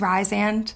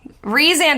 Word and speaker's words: Rhysand: I used to say it was Rhysand. Yeah, you said it right. Rhysand is correct, but in my head it's Rhysand, to be honest.